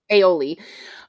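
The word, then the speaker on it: Ayoola: Aoli.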